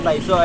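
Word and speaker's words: Thiso: Mira, Taizo, este es T-H-I-S-O.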